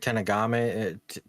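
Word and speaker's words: Terranigma: Just think of Enigma, and then add Earth to it.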